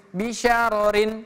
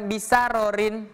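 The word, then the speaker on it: بشرر: Jadi bacanya bisya, bisya bisyarin. Bisyarorin, bisyarorin. Bukan bisyarorin, tapi bisyarorin.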